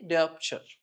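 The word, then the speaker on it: diopter: Pronounce with me. Deopture.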